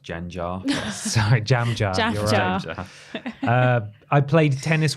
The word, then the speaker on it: Gengar: powerful move doesn't it it's actually pronounced jan jar sorry jam i played